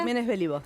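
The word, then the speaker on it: Giménez Béliveau: Estamos para analizar cómo se han comportado las creencias en Argentina con Verónica Belibo, ¿así se pronuncia, Verónica? Jiménez Belibo, sí.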